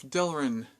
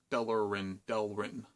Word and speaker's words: Delrin: So, now we'll see if Delrin, not Delrin, one less syllable.